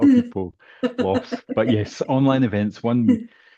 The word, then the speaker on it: Online Events: But yes, online events one. So you spell it online vents. UK but we say online events.